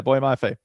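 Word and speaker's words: Boye Mafe: Is that how you pronounce his name? Boy Mafe? Yeah, Boy Mafe at Minnesota, who is a monster.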